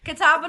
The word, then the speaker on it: Catawba: Catawba, North Carolina.